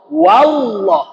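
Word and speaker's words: والله: wa tetap wa Allah wallah yang tebahnya bukan wa wa tetap dengan sifat aslinya tipis Jadi bagaimana bacanya berikan hakwa yang tipis dulu kemudian masuk ke dalam lam jalalah yang tebalallah wallah yang kebakullah Wal asr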